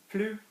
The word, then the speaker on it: plus: Plus sounds like plus, like more.